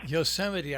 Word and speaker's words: Yosemite: how many lows are left uh including uh mispronouncing certain a certain national park oh my goodness yosemite i mean it's uh for gosh sakes even